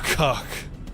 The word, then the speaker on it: Kha'ak: It's a very active Kha'ak. Autopilot engaged. And I'm not just saying it like that for the lulz, that's actually how you pronounce that.